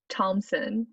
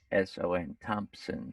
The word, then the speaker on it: Thompson: Thompson. Yeah, because I didn't heard any sound about P, like Tomp. He might have said Thompson. Some people pronounce the P, some people don't.